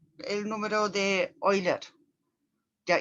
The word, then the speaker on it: Euler: E, el número de Euler. Ya, y ahí también, bueno, en alemán la pronunciación de EU es Euler, o sea, OI, ya.